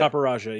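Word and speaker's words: Copperajah: necessarily use I didn't necessarily use Qfont and Caparaja, is that how you pronounce it? Caparaja, yeah.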